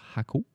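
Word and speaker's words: Jacó: Ça s'écrit Jaco, mais ça se prononce Jaco.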